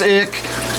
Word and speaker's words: Ich: Ichthyophthirius for short, but most people just say ick. It is typically spelled ICH, or sometimes it is spelled ICK.